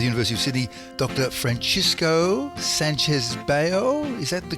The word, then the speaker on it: Sanchez-Bayo: associate of the University of Sydney Dr Francisco Sanchez Bale is that the correct pronunciation that's perfect yeah you wrote this amazing